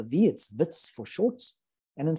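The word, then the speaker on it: Wits: last couple of years it's a dutch name so the w is pronounced with the v it's vits for shorts and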